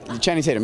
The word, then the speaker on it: Channing Tatum: I think it's pronounced Tatum, right? Channing Tatum? Channing Tatum, yeah.